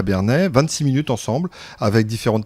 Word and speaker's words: Bernay: La magie de ne pas avoir d'écouteurs, c'est qu'on entend quand on prononce mal le nom de la ville. J'ai eu l'écho, c'est Bernay, bien évidemment.